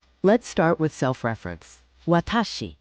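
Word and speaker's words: 私: Watashi, pronounced watashi, means I.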